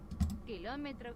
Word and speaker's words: kilómetro: When we don't, when we pronounce things, we like to de-stress certain things to make it flow better.